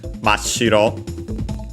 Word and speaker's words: mashiro: The example here, for example, is mashiro. Shiro on its own, accented on the first syllable, white. Mashiro, notice also doubling of the consonants.